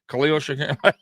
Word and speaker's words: Khalil Shakir: If you even national media, when we lost Diggs, they couldn't even pronounce his name right. They didn't even know he was on the team. That Khalil guy or whatever. I'm like, Khalil Shakir.